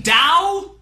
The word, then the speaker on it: Tao: is top you mean dao the word that's spelled like tao but pronounced like dao except by people that